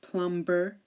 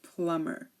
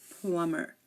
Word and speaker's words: plumber: climber or plumber um here the B is silent we do not say climber or plumber no we say climber and we say plumber climber plumber no be the B is silent here um also when um